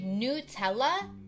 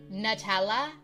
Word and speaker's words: Nutella: Nutella if you say Nutella you're normal because that's how you say it but if you say Nutella like a nut like Nutella I'm judging you oh my my